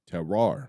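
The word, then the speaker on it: terroir: their Tero Jin and how do you say that terar terar yes get a wine you'll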